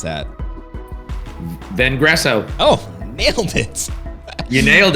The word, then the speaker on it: Vengresso: How do you pronounce that? Vengresso.